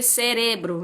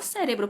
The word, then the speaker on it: cerebro: Por exemplo, cérebro se escreve cerebro, não? E às vezes eu tô aqui conversando com meu marido e eu falo cérebro, porque em português é cérebro.